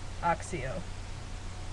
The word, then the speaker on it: Accio: So I pronounce it, like, Oxio, which, I don't know, that's probably really weird, but since it was in italics, I felt the need for it to be a long A instead of short A, so it's ah, and then the double C, like an accent, is x. So it's Oxio.